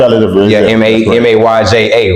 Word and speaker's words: Mayja: It's still Major, like Major, but I spell it different, right? Mayja, right? To have that unique flavor to it, as well as Factor. Instead of spelling it Factor, I spell it Fakta, right? So it sounds just exactly the way it's spelled.